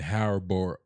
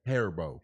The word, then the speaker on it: Haribo: It wasn't Harbo. How do you say it? Haribo.